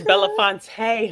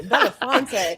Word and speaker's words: Belafonte: Well, darling, it's Belafonte, honey. Oh, excuse me, Belafonte. Yes, honey, you got to add the Put the little accent on there.